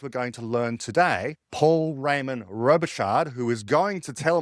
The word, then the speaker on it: Paul Raymond-Robichaud: Um, so, uh, I pronounce my name as, uh, Paul. Uh, of course that's the French pronunciation and I myself are I'm not too sure how to pronounce it in English.